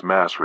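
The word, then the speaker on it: مصر: The ancient Arabs referred to it as Misr. The name Misr continues to be used by contemporary Egyptians to refer to their country until the present day, pronounced as Masr in the Egyptian Arabic dialect.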